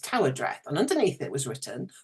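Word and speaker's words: Tywardreath: written Tai wre but I found out it's pronounced Tower Dre and underneath it was written the house on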